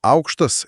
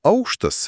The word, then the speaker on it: aukštas: For example, "aukštas" meaning "high" - pronounced with falling pitch accent (acute). And "aukštas" meaning "floor" - with rising (circumflex).